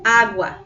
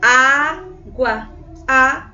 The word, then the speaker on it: água: Você consegue perceber que esse primeiro A ele é bem forte, é bem mais vibrante. Então, você consegue água, tá bom? Então, observe que o primeiro A, a primeira sílaba, é forte, é tônica, tá bom, gente?